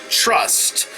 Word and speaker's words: TRST: Then after that, I go back outside to watch TRST, or as I'm told is how it's pronounced, Trust.